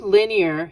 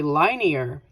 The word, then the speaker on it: linear: So the word linear has what it is in the name.